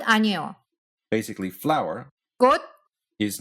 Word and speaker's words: 꽃: The first word ends in the letter ch. And rule 1, the rule of unreleased consonants, tells us to pronounce that final consonant, since it's coming at the end of a word, as an unreleased D sound. So instead of 꽃, we say 꽃.